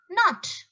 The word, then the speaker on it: knot: no what is it the actual pronunciation not okay please tie a knot not next one k n